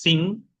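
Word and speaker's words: sim: ejemplo, tenemos el si de afirmación que es sin tenemos el el no, en portugués sería now.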